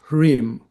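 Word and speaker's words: ह्रीं: And uh we should also here remember the mantra of the spiritual heart which is harim. You can spell it phonetically. H re e m is connected of course to sura and to the heart.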